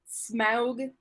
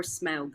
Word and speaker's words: Smaug: And Smaug the Dark. I think it's like smog. I don't think it's necessary to pronounce every syllable.